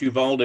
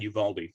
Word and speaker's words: Uvalde: ahead and start off i've heard it pronounced yuvald and yuvaldi so i'm i'm not going